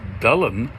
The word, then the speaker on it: Dylan: And then a strange thing happened, which was that Dylan's name, which incidentally is pronounced Dullen, if you pronounce it correctly, that Y is actually what we would treat as a U, and the U